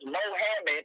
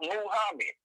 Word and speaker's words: Muhammad: It's the white man's way of saying Muslim, just like the white man says Mohammed instead of Muhammad. It's just the white man's pronunciation of it.